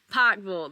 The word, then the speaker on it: Pikeville: it went to the nice people Pike full Pik full that's how they say it here I finally